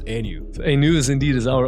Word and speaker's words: AENU: how do you pronounce Anu Anu is indeed is our own creation and it's all phonetically about the new thing the new era the new day so it's basically it's